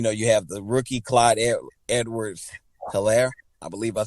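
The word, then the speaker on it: Clyde Edwards-Helaire: backfield man you know you have the rookie clyde edwards hilaire i believe i said it correct you said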